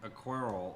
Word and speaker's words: aquarelle: By the way, I pronounced that right? Aquarelle?